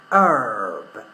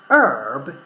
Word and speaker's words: herb: done in British English herb is American English Herb in British English we pronounce the letter H yeah or the sound H before so we say herb